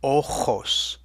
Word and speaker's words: ojos: That kind of rough grating H-type sound is always written as a J in Spanish. So when you hear ojos, don't put an H in the middle there. And now you can see